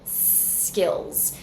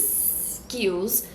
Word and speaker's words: skills: we have the word skills now careful not to start with the vowel sound this is a tendency for Brazilians to say is Skuse instead of starting with the